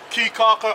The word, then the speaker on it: Caye Caulker: Caye, Caulker, and San Pedro.